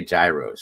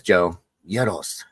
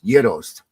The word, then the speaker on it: gyros: passed away when I used to say Gyros she used to get so pissed off at me she would hold my face and say say it like this Joe Yos it's Yos okay love you Angie